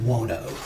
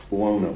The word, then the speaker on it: Buono: Uh Dwayne Buono. Buono.